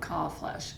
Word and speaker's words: Kalbfleisch: one it is and the B is silent okay so C flesh it actually means uh